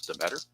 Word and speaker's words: Deatter: And here comes Don Deatter. That's what I was told is pronounced as the better.